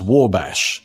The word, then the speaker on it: Wabash: So, it's actually pronounced Wabash.